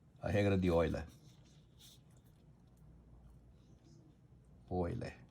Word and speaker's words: Euler: Euler. É alemão, é U, pronuncia Oi, que nem Freud.